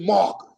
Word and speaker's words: Marcus: that said my name wrong my name I said I was I said I'm now I'mma tell y'all my name want y'all repeat it for me it's marus and then they repeated marus and then I went